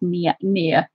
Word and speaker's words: Nia: It might look like Nia, but here in the USA we definitely say it Nia. Yeah. Yeah, Christine is right. You have pronounced it right, and that is the way you'd say it here as well. It is near, as in near and far.